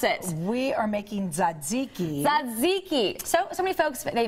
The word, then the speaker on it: tzatziki: All right, what are we making today, and how do you pronounce it? We are making tzatziki.